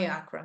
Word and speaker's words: IACRA: o cadastro no iacra a pronúncia é iacra tá tá o iacra ele